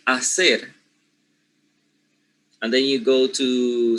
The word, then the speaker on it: hacer: However, they are, changing the silent H, which is supposed to be in general regular Spanish pronunciation, for a J, right?